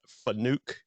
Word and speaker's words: FANUC: um and I know I'm always pronouncing their name wrong but I try they're called FANUC it's f-a-n-u-c America and they're out of Michigan